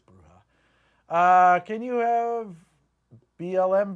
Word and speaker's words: bruja: by night with a bruja back bruha or bruja I always we always pronounce it bruja but I think it's bruha uh can you have